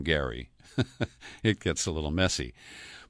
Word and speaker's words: Gerry: book on gerrymandering or do you say Gary the guy who gerrymandering is named for pronounced his name Gary it gets a little